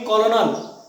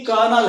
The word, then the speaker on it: colonel: लिखा है मैंने, COLONEL, स्पेलिंग के हिसाब से इसको पढ़ेंगे कॉलोनल, लेकिन ये कर्नल है, इसका जो प्रोनाउंसिएशन है वो क्या है, कर्नल, माइंड में रखिए इसको, ये कॉलोनल नहीं है, ये कर्नल।